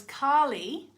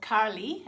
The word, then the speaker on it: Kali: And I do think it really helped because Kali, or Kali, as I've been taught to say her name in India, where I've learned pretty much everything I know about Kali.